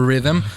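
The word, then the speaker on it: riddim: and it's just that you spell it r-i-d-d-i-m but it's for rhythm so you have a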